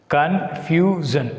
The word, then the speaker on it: confusion: So, what is the second syllable from the end? Confusion. SION is the one syllable and FU is the one syllable. So, here the letters FU is considered as the second syllable. So, we should put stress mark on F.